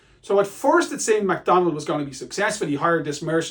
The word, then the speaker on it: Macdonwald: been a rebellion a Scottish nobleman called It's pronounced McDonald as in mackie's but it's a w in